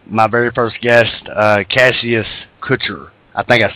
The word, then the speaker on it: Cassius: one and only cash clay muhammad ali it's cassius cassius okay well i i sincerely apologize for mispronouncing your first name usually i mispronounce your